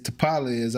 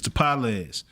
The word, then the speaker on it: Tapales: It is Tapales, I believe, but I don't want to say it wrong. Yeah, that was right. It's Tapales, right?